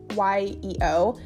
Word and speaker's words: Yeo: Those are both narrated by Rebecca Yeo, I think is how you say her last name. It's Yeo. She's fantastic.